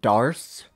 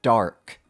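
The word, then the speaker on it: Dharc: by the way uh i always pronounced his name dars with an s sound at the end but it turns out his name is actually pronounced dark dark the dark charmer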